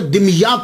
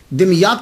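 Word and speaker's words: دمياط: तो ये सैयद जमालुद्दीन साउजी फिर वहां से मुंतकिल हो गए, दिमयात चले गए। इसके बहुत सारे प्रोनाउंसिएशन हैं, लेकिन सबसे जो आसान है वो मैं आपको बता रहा हूं, दिमयात।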